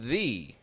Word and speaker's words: the: it to surrounding words other times it's pronounced with a whole long e on the end the the the entrance